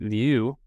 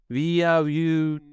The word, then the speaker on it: Vieaux: special guest and friend View and actually I didn't even know how you pronounced your last name until like a month ago you nailed it I was always trying to say like via you yeah you know I